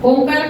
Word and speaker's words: ओम: दोब के बीच में ओमकार का ध्वन उच्चारण होगा वन वन रेशो में पहले एक बार सुने फिर मेरे साथ दो ओम ओम सा करते हैं ओम जितना ओ उतना ही म ओम ओम ओम ओम